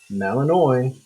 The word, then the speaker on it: malinois: have a german shepherd or you know belgian malinois or some people pronounce it malinois um sorry my bad um here we go